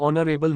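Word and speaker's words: honourable: underscore underscore underscore underscore ऑनरेबल मैन एन एच is silent sound starts with O वाउ 40 इडएम once in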